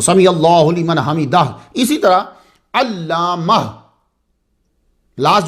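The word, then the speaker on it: سمع الله لمن حمده: समी अल्लाहु लिमन हमिदाह, तो प्लीज़ ख्याल रखा करें, क्योंकि कुछ उलमा के नज़दीक उसकी नमाज होती ही नहीं है जो दाह हा को प्रोनाउंस नहीं कर रहा वहां।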